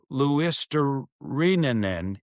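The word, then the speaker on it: Luostarinen: And if you go on the pronunciation guide, it will say Luisterinen.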